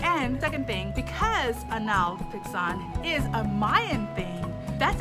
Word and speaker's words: Hanal Pixán: i for the pronunciation the google pronunciation is anal pixon but i've watched a couple of actual like youtube videos of spanish speaking people and they one speak crazy fast but i definitely hear an h sound like hanal on